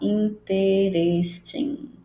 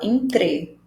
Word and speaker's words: interesting: muito legal, que é: esse E aqui é mudo. Então, a gente conecta o som desse T com esse RE. Então, a gente não vai falar interesting. A gente fala interesting.